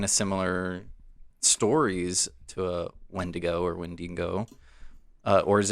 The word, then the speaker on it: wendigo: are there any other stories of wendigo when when dingo okay i don't know creatures i'm so sorry